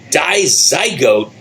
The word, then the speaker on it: Dizygote: Now, I am with the band, and I'm going to say it right this time, Dizygote.